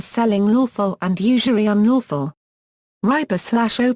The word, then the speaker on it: ربا: Riba/o plus or minus uomo section is pronounced and written similarly to rabbi/o plus or minus uomu, that means Lord Master.